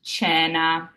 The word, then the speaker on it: cena: Now here we have a C followed by an E that also follows that CH rule. So it's pronounced cena. And cena means dinner. And the E is in our word, so it's more of an E sound instead of an A. So cena.